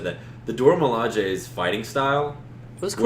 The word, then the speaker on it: Dora Milaje: A+ on pronunciation. Thank you. I had been reading it wrong apparently for years. I had been calling them the Dora Milaje.